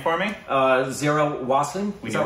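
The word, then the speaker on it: Zaira Wasim: Zira Wassing, is that right? Yeah, we know her from Dongle. Zira Wassing.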